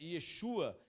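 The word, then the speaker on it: ישוע: A pronúncia, né, eh, Yesua, é a mesma que vai dar origem ao nome Jesus.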